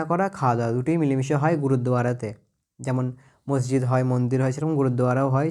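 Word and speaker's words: gurdwara: and eating together in গুরুদ্বারা গুরুদুয়ারা গুরুদুয়ারা উচ্চারণটা ঠিক cooking and eating together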